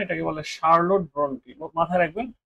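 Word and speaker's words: Charlotte: এটা Carroll Brontë না, এটাকে বলে শার্লট ব্রন্টি, মাথায় রাখবেন। শার্লট, চার্লটই না, শার্লট ব্রন্টি, উচ্চারণটা হচ্ছে শার্লট।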